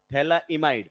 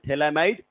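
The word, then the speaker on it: phthalimide: लाइ might synthesis Gabriel ये pH silent है भाई थला इमाइड अमाइज नहीं गेब्रियल थला माइड सिंथेसिस गैब्रियल थला इमाइड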